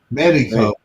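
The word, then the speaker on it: México: to think about something how do the Spanish pronounce Mexico meico meico Meo Don donot the x is silent it's an H sound yeah donot Mexico all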